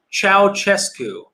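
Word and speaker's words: Ceaușescu: uh the romania comments the dictator's name is pronounced ciao chesku okay that helps ciao cescu i would never have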